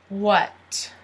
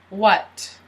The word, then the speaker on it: what: What? You don't pronounce the H. What?